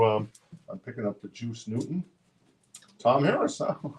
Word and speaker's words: Juice Newton: name it's like the how do you say it julus Newton something oh Juice Newton Juice Newton is juice oh okay it's juice yeah juice a juice